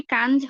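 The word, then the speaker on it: quinze: আই এন এর উচ্চারণটা হচ্ছে আ, যদি না পরেরটা ভাওয়াল হয়, যেহেতু এখানে জেডটা কনসোনেন্ট, দ্যাটস ওয়াই এটা হচ্ছে কাঞ্জ, ঠিক আছে।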